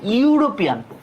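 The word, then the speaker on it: European: ভাওয়াল প্রকাশক বর্ণ আচ্ছা এখন ভাওয়াল প্রকাশক বর্ণের উচ্চারণটা যদি ইউ এর মত হয় ইউ এর মত হইছে ইউরোপিয়ান উচ্চারণ যদি করতে চাই ইউরোপিয়ান ইউরোপিয়ান ইউরোপিয়ান যদি ইউ এর মত যদি হয় তহলে কি এখানে আর আমার কি বসে না বলতো এখানে আর আমার এন বসে না এন না বসে এখানে কি বসবে এ বসবে তাহলে এটা কি হবে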